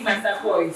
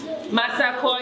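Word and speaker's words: Massaquoi: So, Madam Woki Masakoi. So her name is spelled. Her name is spelled W-O-K-I-E. Masakoi as in M-A-S-S-A-Q-U-O-I.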